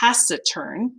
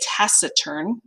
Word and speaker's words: taciturn: in them and then the next word is pronounced tacern everyone say tacern tacern is a person who's quiet or reserved